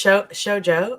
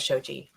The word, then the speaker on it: Shojo: Oh, it's Shojo? I thought it was Shoji.